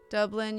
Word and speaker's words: Dublin: Dublin, you got it right the first time. Dub rhymes with rub.